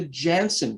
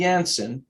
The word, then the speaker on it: Janssen: important if you had the jansen vaccine or the yanson it's pronounced both ways uh everybody who had